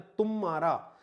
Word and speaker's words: तुम्हारा: रहेगी गुरु नहीं होगी तुम्हारा लिखा हुआ तब भी यहां पर जो है उच्चारण में तुम मारा अब ध्यान रखना तुम्हारा